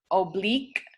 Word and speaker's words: oblique: Also, IQUE, such as in the word oblique, has an I that sounds like a long E. Oblique.